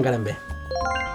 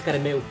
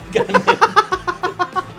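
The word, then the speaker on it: Karembeu: Cristian Carambé. ¡Correcto! No, es Carambeu. Carambeu. Así se pronuncia en castellano.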